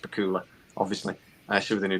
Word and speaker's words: Bakula: Joseph Medusa just said that Scott Bakula should be it's pronounced Bakula, obviously.